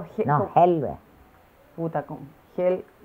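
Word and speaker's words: حلوة: No, Helwe. Puta, con Hel... La H se pronuncia como Ha, como Halge. En alemán.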